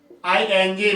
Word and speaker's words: morning: मॉर्निंग, आर इसमें silent रहेगा, तो MORNING, मॉर्निंग।